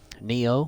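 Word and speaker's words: Nioh: it it's the same people that played um Neo which is spelled n-i-o-h we have uh Fallen dynasties on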